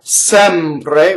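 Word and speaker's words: sempre: So for instance, you have Sɛmpre, where the E on the stress is open, right?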